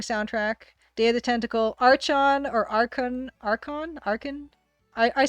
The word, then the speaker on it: Archon: Archon, there's something really awesome about that game. Really, really awesome. Hard, it's hard CH? Okay, Archon. Archon.